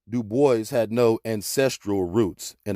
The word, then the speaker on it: Du Bois: david levering lewis w.e.b du bois yes he always insisted on that pronunciation uh he did not like the gaelic pronunciation though in his antecedents he was partly french look at this nigga's